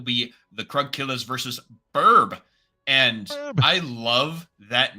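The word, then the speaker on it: BRB: It's Be Right Back, but it's Burb. And Yeah. it's spelled different, of course, but that's just what it seems like to me, is every time I hear it as Burb.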